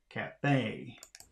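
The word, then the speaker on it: Café: the position of stress the stress and Cafe falls on the last syllable Cafe 21. that is the loudest part or the stressed part is the last syllable in the word Cafe Cafe Cafe 22.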